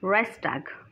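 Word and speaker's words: Reichstag: इसका प्रोनाउंसिएशन थोड़ा डिफरेंट होता है, ये गलत नहीं, ऐसा ही होता है, राइक्सटैग।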